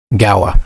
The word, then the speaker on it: Gaoa: Guard Gaoa. That's how I decided to pronounce it. Gaoa.